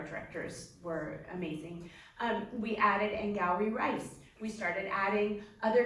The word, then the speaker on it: Angourie: You mentioned Angourie. I almost said Angourie, which is me just being klutzy. But Angourie flowery, it's very easy to remember. Yes, Once you rhymes with flowery, yes, you'll never forget it.